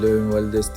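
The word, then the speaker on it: Les Invalides: Burası less invalides yani le invalides diye okunuyor.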